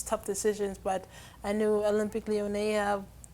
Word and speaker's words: Olympique Lyonnais: How do you pronounce it? Because I was reading it. Olympique Lyonnais.